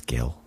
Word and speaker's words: Gill: Could be Jill. It's Gill.